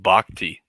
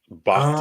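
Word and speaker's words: Bochte: on the grid um it's pronounced bakti bakti okay okay bakti Bruce bakti 100%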